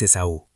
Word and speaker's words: Esaú: El nombre de mi papá es Esaú, así, con acento en la última vocal, aunque nadie en la familia se lo respeta.